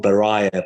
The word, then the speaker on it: Baraye: last 6 months, and that is the song Baraye by Shervin Hajipour. Is that correct as well, the pronunciation, Katy?